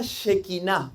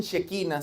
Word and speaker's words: shequiná: la es la palabra shequiná. Algunos le dicen shequina. Si alguien lo ha escuchado, pero lleva acento. Por eso yo le digo shequiná.